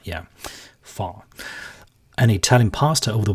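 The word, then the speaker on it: phở: on Monday, Chinese stirfries on Tuesday, authentic Vietnamese foe on Wednesday. Actually, the word is pronounced far. Yeah, far.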